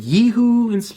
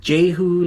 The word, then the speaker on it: Jehu: So a lot of people pronounce it Yehu in English. Some pronounce it Yehu. I pronounce it just Jehu, like with the J.